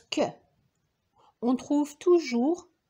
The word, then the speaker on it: Q: aussi les mots interrogatifs la lettre Q se prononce que on trouve toujours Q